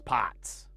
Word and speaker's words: pot: that for some reason people pronounce pots even though it's not a it's a pot. It's a long O, not a not a short one.